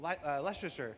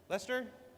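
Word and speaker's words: Leicester: Uh, straight out of Klesher back to the hex photos from Leasher. How do you say? Is that Leasher? Lester.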